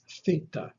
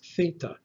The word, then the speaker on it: theta: This is also a th, like the letter delta, except that theta is voiceless. You do not engage the vocal cords when you pronounce theta, like th in the word think, think.